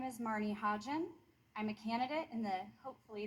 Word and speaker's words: Hodgen: It's Hodgen with a soft G. If it helps, you can think of it as a phonetic combination of the word ha, as in ha ha ha funny, and the alcoholic spirit gin, as in a gin and tonic, ha gin.